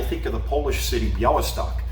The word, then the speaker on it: Białystok: Because when you say Bialy, I think of the Polish city Białystok. It's the L with the slash through it, which means that it's pronounced like a W.